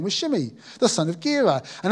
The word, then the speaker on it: Shimei: I'm pronouncing it Shimei. Is that all right? Is that okay, Aaron? Have I got that right? Excellent. Good. Shimei.